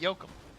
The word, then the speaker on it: Yoakam: Is it Yoakum. just Yoakum? It's Dwight Yoakam.